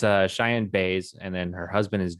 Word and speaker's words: Baez: i do yeah i didn't know how to pronounce her name until she was highlighted yeah it's it's uh cheyenne bay's and then her husband is jpg jp based